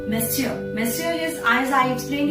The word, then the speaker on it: Monsieur: The next one is, this word is pronounced as Monsieur.